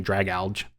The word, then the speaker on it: Dragalge: Dragalge. Dragalge. I have no idea. We're definitely but someone's going to make fun of us. No, it's it's it's like drag alge cuz like algae and dragon drag alge Oh, okay.